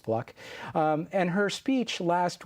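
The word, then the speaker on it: Fluke: Sandra fluck spelled f l u ke but pronounced fluck um and Her speech last week uh to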